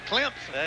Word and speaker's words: Clemson: That's Clemson. Clemson. Clemson.